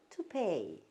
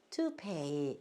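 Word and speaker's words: toupee: 또 여기 남자들 여기만 쓰는 가발은 to pay, to pay 이렇게 발음하시면 됩니다. 자, WG다.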